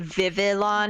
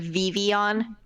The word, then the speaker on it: Vivillon: The fact that Can we give Tiger the negative points anyway for pronouncing it Vivillon instead of Vivion?